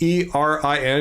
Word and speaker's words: Erin: And the last word is spelled E-R-I-N because that's her name, Erin, not like A-I-R.